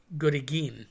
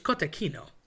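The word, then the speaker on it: cotechino: Um people say good again. Again, I think that's Philly thing. It's cottechino.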